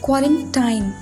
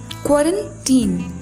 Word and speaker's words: quarantine: एंड इसका pronunciation बहुत लोग गलत करते हैं और वो लोग बोलते हैं क्वारंटाइन। क्वारंटाइन इसका प्रोनाउंसिएशन नहीं होता है, इसको लिखा जाता है क्वारंटाइन। पढ़ने के लिए इसको क्या पढ़ते हैं, क्वारंटीन।